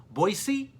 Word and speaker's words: Boise: boisey State Broncos that's right the locals do not pronounce it as Boise it's boisey the Oregon State Beavers travel to Fresno State